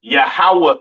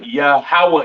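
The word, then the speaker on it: יהוה: m okay quick recap the lord's name is yahawah in the Hebrew all right yahwah in the Hebrew left I mean excuse me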